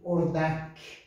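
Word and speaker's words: اردک: O, não, o, não é O, é o, no caso de Ordak, Ordak, a palavra Ordak, pato, Ordak, Ordak, tá?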